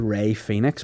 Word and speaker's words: Rey Fenix: The fella's called Ray Phoenix, but not spelled like a fella who own a vape shop.